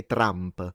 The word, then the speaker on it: Trump: But yeah, so that's why with Trump we don't actually say Drumpf. Uh but but people do roll their Rs. They do say Trump. So, the R is rolled.